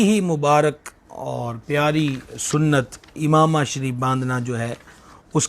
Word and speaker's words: عمامہ: جو لفظ ہے امامہ، اس کے عین کے نیچے زیر ہے، یہ لفظ امامہ نہیں ہے بلکہ صحیح تلفظ اس کا امامہ ہے، اور اسے ہماری بولی